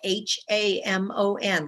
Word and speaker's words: Hamon: My last name is spelled H-A-M-O-N, like ham on rye.